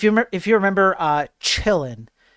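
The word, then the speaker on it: Qilin: So if you if you remember uh chillin which is uh spelled with a Q but because it's from China you you say ch the q is the ch right.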